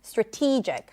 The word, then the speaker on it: strategic: And in strategic, then the T is the primary stress.